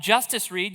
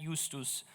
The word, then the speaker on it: Justus Reid: Uh, I'm Justice Reed. You were close with your pronunciation, but not correct. That's the way we say it in America. Not not Eustus.